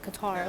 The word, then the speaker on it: Qatar: uk literally so like she was like oh i'm sorry pronouncing it qatar i'm supposed to pronounce the cutter i'm like no the first word is was correct like it sounds right like cutter like i don't